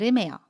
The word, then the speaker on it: 얼음: ‘얼음’ is pronounced as .